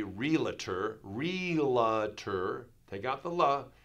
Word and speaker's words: realtor: and leave that off realtor often times even growing up I would say realtor realtor adding a little sound here kind of like